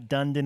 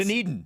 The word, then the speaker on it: Dunedin: It's not Dunedin. It's not Dundon. It's Dunedin. Dunedin. Dunedin. Dunedin.